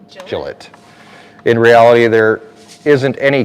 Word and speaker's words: Gillette: a Gillette Wisconsin but unlike your Gillette it's minus an e pronunciation rhymes with Skillet so Gillette Gillette in reality there isn't